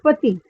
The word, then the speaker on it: petit: And the masculine form, which is PETIT, is pronounced as pati. The last T is muted.